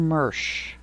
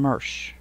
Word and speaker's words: mush: corn mush m-u-s-h but he pronounced it with an R so he pronounced it corn mersch and it was weird to hear him say I'm going to fry some Marsh but it looks good